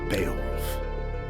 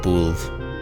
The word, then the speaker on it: Beowulf: I always said Boolv.